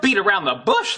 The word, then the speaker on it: beat around the bush: from the United States, that final T in beat, it comes between two vowel sounds. So I am going to pronounce this as a flap T, which is going to sound more like a soft D. And then I can link that flap T with the vowel sound in around.